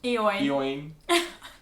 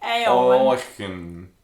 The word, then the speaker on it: Eoin: Like Eoin. Eoin. Owen. Owen. The English way would be Owen. Owen. But Irish spell it likes differently.